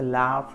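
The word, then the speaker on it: laugh: फ मतलब होता है एफ, और किसी वर्ड के एंड में अगर जी एच आए तो उसे फ की तरह प्रोनाउंस करते हैं। जैसे लाफ है तो उसमें हम जी एच का उच्चारण फ की तरह करते हैं।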